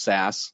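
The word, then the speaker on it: SaaS: know my background is so sas usually pronounced sas but software as a service so really uh focused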